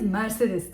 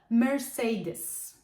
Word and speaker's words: Mercedes: Alman markası istisnasız Türkiye'de herkes Mercedes diye telaffuz ediyor ama İngilizce konuşuyorsak bu markanın telaffuzu şu şekilde olmalı Mercedes sırada Yine ünlü herkesi